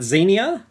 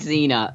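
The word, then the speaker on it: Xenia: evening Z I can't Zenia not like Zena Zenia like Z Zenia on a top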